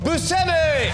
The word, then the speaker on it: Buscemi: But if you want to say his name like he says it, it sounds like this. Steve Buscemi!